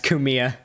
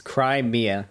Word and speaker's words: Crimea: I saying it wrong yeah it's kumia it's cry Mia okay all right Crimea